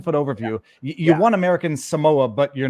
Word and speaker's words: Samoa: never been to American Samoa that's how you pronounce it Samoa it's very hard for people here on the